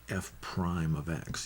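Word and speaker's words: f′(x): line we call it f Prime of X you see this apostrophe here uh that we pronounce that F Prime of X so this formula is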